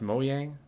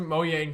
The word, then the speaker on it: Mojang: I do believe, and you know it's pronounced Mojang.